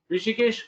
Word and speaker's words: Hrishikesh: Rishikesh Kose. Rishikesh. Oh, so H is silent.